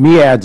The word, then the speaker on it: MEADS: uh with regards to is it mads or mes how do we pronounce that I've heard a million different Meads is the way I do it sir all use ads